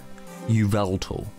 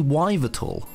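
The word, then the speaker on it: Yveltal: the Pokemon Y legendary, which people pronounce as Uveltal. I don't know if they're blind or if they see the U I don't see. It's obviously Wyvertal.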